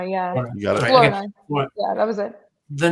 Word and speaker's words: Flournoy: I'm going to say his name wrong. Ryan Flournoy. Flournoy, yeah. You got it. Flournoy.